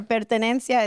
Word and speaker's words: pertenencia: How do you spell that for the folks at home? Sure. Peranencia is P E R T E N E N C I A.